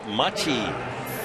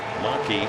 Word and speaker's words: Machi: John Machi, not Gene Maki.